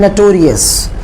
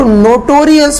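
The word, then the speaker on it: notorious: भाषा में बोलते हैं नटोरियस। कई लोग इसको नोटोरियस पढ़ते हैं, लेकिन इसका सही उच्चारण है नटोरियस, मीन्स कुख्यात, एक गुंडे टाइप का पर्सन।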